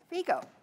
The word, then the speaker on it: Figo: Pam called and asked them how to pronounce their name, because we have been saying Figo, and it is, in fact, Pam? Figo.